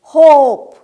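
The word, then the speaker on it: hope: আমি বোর্ডে লিখেছিলাম এইচ ও পি হোপ। উচ্চারণ এইভাবে করেছিলাম। হোপ। এরপর আমি ইটাকে হাত দিয়ে ঢেকে দিয়েছিলাম। তারপর আমি উচ্চারণ করেছিলাম এইচ ওপি হপ। ওদের আমি বলেছিলাম এই যে দেখো ই এটা কিন্তু নিজে উচ্চারিত হচ্ছে না। তার পরিবর্তে হোপ এই উচ্চারণে সাহায্য করছে।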